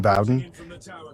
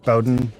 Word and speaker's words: Bowden: That's one I haven't read actually, but I do agree that Aaron Demsky Bowen Bowden I've heard it pronounced both ways absolutely amazing as an author.